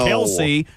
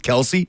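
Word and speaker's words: Kelce: Uh, so so there is some something out there that says that technically Kelse is the correct pronunciation, but they're just rolling with Kelsey.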